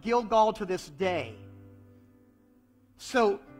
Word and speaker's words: Gilgal: the Hebrew word for gilgal and notice it says so the name of that place is called gilgall to this day so every time they said the word gilgal it rhymed with roll away every time they said